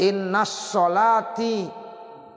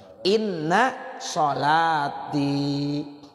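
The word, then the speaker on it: إن صلاتي: Jangan innas sholati tuh wa nusuki. Betul salah tuh innas sholati. Salah. Iya. Jangan innas sholati, tapi bacanya apa? Inna sholati wa nusuki wa mahyaya wa mamati lillahi rabbil alamin.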